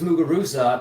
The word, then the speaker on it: Muguruza: all of a sudden everyone was pronouncing her last name like with a th instead of a z now i get it's a spanish thing carla's that and carla